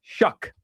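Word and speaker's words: Shough: Your guy Tyler Tyler Sha Shuck. Sha almost said it wrong. Messyl said it right. His name is Tyler Shuck. Tyler Sha Shuck.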